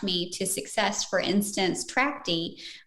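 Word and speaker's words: Trachte: to success for instance Tracy uh which is spelled t r a c h te is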